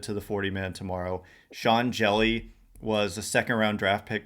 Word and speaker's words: Hjelle: He's like slender, and his last name is Jelly, but it's spelled with an H and a J.